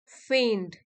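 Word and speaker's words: feign: वाला वर्ड है फे यहां पे जी साइलेंट है हम बोलेंगे इसे फेड फेड which means part of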